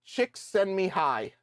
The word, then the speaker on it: Csikszentmihalyi: Apparently that's how you pronounce his name. Mihail Csikszentmihalyi.